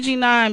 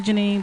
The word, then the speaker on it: Janine: g9 in the building they call me Jean on because my lap my name is spelled GE and I and II so it's really Janine but they call me